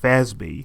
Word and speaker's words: FASB: Historically, the Financial Accounting Standards Board, abbreviated FASB and pronounced FASB, has been the private sector organization responsible for promulgating the rules of accounting.